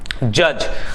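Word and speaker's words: judge: हम जज कहते हैं जज यहां पे दी साइलेंट होता है तो जज कहलाता है नेक्स्ट है जो मजदूर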